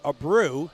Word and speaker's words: Abreu: is pronounced we print my family pronounces it a brew a-br-e-u but I get